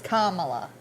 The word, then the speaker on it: Kamala: I think it's Kamala. I've heard it pronounced a lot of different ways.